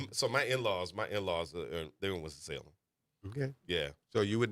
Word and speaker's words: Winston-Salem: It's basically 2 syllables somehow, but 3 but it's a bunch of syllables. Yeah. But we have to melt them. We have to melt them all together.